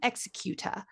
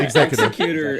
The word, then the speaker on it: executor: Scrooge was his sole executor. How do you say that word? You're right. You got it right. Yeah. Executor. Executor is something else. He might become an executor, but yeah, executor.